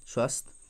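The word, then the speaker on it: SWASTH: तो किस मंत्रालय ने स्वस्थ, इसकी जो प्रोनाउंसिएशन यही है, स्वस्थ एंड आलेख ई सुविधाएँ लॉन्च की हैं।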